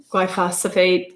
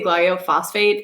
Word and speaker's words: glyphosate: China um Roundup um glyphosate glyos my gosh I always say gof phosphate and I know I say it wrong but it's the Roundup